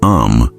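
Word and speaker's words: עם: The true identity of Yahuah's people are not a religion, not a building, not a denomination, but the Hebrew word am, pronounced am, means people, nation, or kin.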